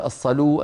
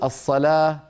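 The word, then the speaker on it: الصلاة: على حسب لهجتهم الصلاه ما في عربي يقول الصلوا الزكوا الحيوا كلنا نقول الصلاه الزكاه الحياه ولكنها تكتب بالواو الامر الرابع ما كتب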